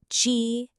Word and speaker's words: 鸡: The next one is Ji, and this is the word for a chicken, a hen.